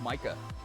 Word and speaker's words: Micah: Is it pronounced Mika? I was told it was pronounced Micah.